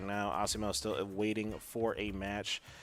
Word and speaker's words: Asimo: Ashimo Bluecat is who we're about to see right now.